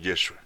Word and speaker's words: Yeshua: o sea Jesús yeshua su verdadero la verdadera pronunciación yeshua Juan preparó su venida predicando a todo el